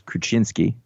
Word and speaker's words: Kruczynski: writer jimsky right so i know that the cz is a cha so it's kruczynski heiko kracinski is all